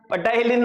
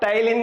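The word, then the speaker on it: ptyalin: क्या कहा जाता है, सलेवरी अमाइलेज भी कहा जाता है, या पटाइलिन नहीं कहा जाता, इसको क्या कहा जाएगा, टाइलिन कहा जाएगा, ठीक है।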